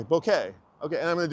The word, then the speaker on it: bokeh: It's Bokeh. It's b o k b o h k e h. Bokeh. Let's Let's see if we can change it. It's not Boca.